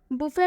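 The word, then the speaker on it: buffet: बुफे में last में टी आ रहा है, जो कि रूल से बिल्कुल अलग है, लेकिन इसमें हम टी का उच्चारण नहीं कर रहे हैं क्योंकि ये भी एक्सेप्शन में है।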